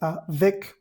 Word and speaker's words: avec: En esta segunda palabra simplemente tenemos a vec, se pronuncia simplemente avec.